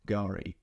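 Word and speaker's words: K'gari: Now, I know I've been corrected, so the proper name is Gari with a silent K.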